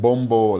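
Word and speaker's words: Bobo: But of course, Fijians, they pronounce it Bombo like that.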